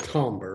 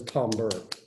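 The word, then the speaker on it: timbre: pitch of the tombra technically it's calmer but everybody i know says tom burr or tumbra instead which is the way it's spelled not the way it's pronounced um so tomber or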